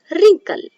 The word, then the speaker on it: wrinkle: Now one more example, wrinkle. So we'll move to the next silent letter words.